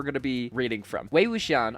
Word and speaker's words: Wei Wuxian: Wei Wuxian, I'm pretty sure is how to pronounce the name.